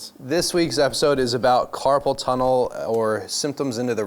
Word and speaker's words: carpal: And it is not carpull tunnel. Is that what I said? No, but I get I get Well, I mean that's phonetically it's carpull tunnel, but it's not C A R